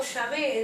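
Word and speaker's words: Yahvé: plural También tenemos a Jehová que es traducido señor y pronunciado yavé en el hebreo También tenemos que significa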